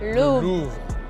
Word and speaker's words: Louvre: Correct pronunciation of this place? Louvre.